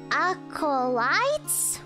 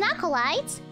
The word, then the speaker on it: acolyte: a little oh this this is what all acolytes wear it's my uniform you could say acolytes what's an aoly what's the wrong pronunciation again what's an aoly an anacolly